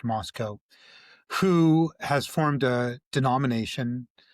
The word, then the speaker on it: Moscow: Doug Wilson is the pastor of a church in Moscow, Idaho, spelled Moscow, but pronounced Moscow, who has formed a denomination, Reformed Calvinist denomination, called the Communion of Reformed Evangelical Churches, or CREC.